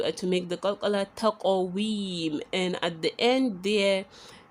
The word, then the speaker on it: تَقْوِيم: Taqawim, taqawim. You remember qaf is a huruf al-qalqala, and that is why you say taqawim.